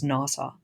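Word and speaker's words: NAWSA: American women suffrage association which people pronounce as nasau um that nasau should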